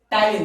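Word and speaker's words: ptyalin: टाइलिन, this is the name of salivary amylase. तो याद रखिएगा ये पी साइलेंट है, ओके।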